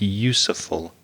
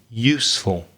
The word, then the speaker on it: useful: useful it sounded like useful so you don't pronounce the e the connect pronunciation only two syllables useful it's really useful and the second one